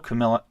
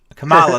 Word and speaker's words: Kamala: I don't know that Biden's the person to deliver it, or Kamala. Okay. Kamala.